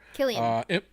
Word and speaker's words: Cillian: Killian.